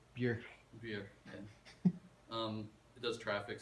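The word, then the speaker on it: Björk: Play Boy George um I wonder if you pronounced it in like Icelandic you use the Icelandic pronunciation yeah maybe that maybe I need to do that which is something like beer beer yeah um it does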